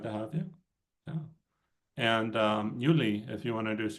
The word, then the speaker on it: Yuli: And do you go by Yuli or Julie? How do you say your name? Yuli.